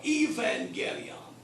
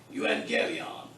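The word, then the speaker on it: εὐαγγέλιον: via the promise now this next word is pronounced two ways actually I've heard hmm scholars pronouncing both ways either you and Gillian are Evangelion I'm purposely I mean I myself like you and Gaby on because we've learned epsilon boo salon is ooh so who and a beyond you and Gaby on but if you pronounce even get me on up that's fine with me notice that it's neuter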